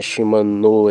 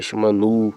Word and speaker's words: Shimano: Quando a Shimano veio com aquele papo de, ah, meu nome não é Shimanô, é Shimanu.